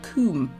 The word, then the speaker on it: Combe: Some people pronounce it Castle Combe, it's not, it's pronounced Castle Combe, by the way. It's spelt Combe but pronounced Combe.